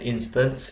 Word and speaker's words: instance: dengan sebutan Instance diagram tulisannya instan C ya bacanya Instance diagram Kenapa karena dari kata